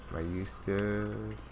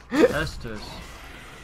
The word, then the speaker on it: Estus: Alright, and I got my Eustace. Goddamn, now really I'm going to start calling it. Estus. Alright. Estus. Alright. It's easy once you actually, like, pronounce it right.